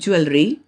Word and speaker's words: jewelry: for this word j-e-w-e-l-r-y the american pronunciation is jewelry whereas the british pronunciation is jewelry now you repeat after me j e w e l r y american pronunciation jewelry british pronunciation jewelry now i hope you